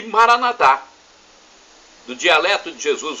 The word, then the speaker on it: Maranatá: Os evangélicos e protestantes, nossos irmãos, dizem Maranata. Não tem problema. A pronúncia é a mesma e o significado o mesmo.